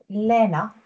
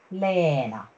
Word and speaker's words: Leena: So if you hear me, I would say Lena, Lena, Leena.